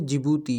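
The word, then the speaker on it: Djibouti: अगला कंट्री है जिबूती, यहाँ पर डी जो है वो साइलेंट है।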